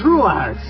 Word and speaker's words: Truax: Yeah, what do you mean I can't pronounce it right? It's Truax.